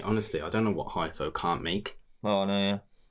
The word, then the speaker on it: Hypho: Hypho MCR on Instagram is Hypho. F? There's no F. What am I? It's PH.